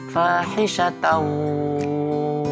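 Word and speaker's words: فَاحِشَةً: Kemudian hisatan ada tak marbutah berharokat fathah tanwin bertemu dengan waw. Maka cara bacanya adalah idgham bihunah atau hukum bacaannya ya. Cara bacanya yaitu fahisyatan wa, nah, masuk ke huruf waw.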